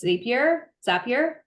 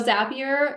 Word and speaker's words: Zapier: have an integration with Zapier. That's always the correct one. And it rhymes with happier. We've been told this. So Zapier is something that you